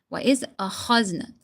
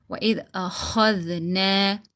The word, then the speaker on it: وَإِذْ أَخَذْنَا: وَإِذْ أَخَذْنَا kha. Okay, you need to take it out from your throat.